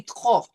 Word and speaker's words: trop: Then we have the P. So here we have our favorite combination, this sort of silent T with the French R followed by the O. So it's going to be trop. We will not pronounce the P, but we will say trop.